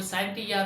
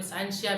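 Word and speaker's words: scientia: साइंसिया का मतलब है, इसके अलग अलग प्रोनाउंसिएशन होते हैं, कोई साइंटिया भी कहता है, कोई साइंसिया भी कहता है।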